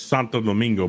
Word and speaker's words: Santo Domingo: Well, it's pronounced it's Santo Domingo, but he said shit mingo as a insult.